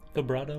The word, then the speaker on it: vibrato: more bravado in it, am I pronouncing it? Vibrato with a V. Bravado, V. vibrato, vibrato. I always pronounce it Bravado with is a V. very different thing.